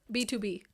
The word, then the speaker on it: BTOB: BTOB. No, but just yeah. It's what is there. BTOB, yeah. Almost. B2B.